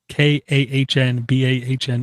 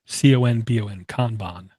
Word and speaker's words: Kanban: And I'm being trolled by Richard Hughes, who says it's pronounced Kanban or Kanban. Kahnbahn or Conbon. Kanban.